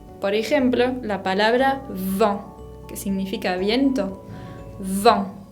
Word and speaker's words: vent: Se tiene que exagerar mucho esa labialidad de la V. Vent. Es distinto pronunciar vent con V corta y vent con B larga, ¿no? Vent, vent. Uno es viento y el otro es banco.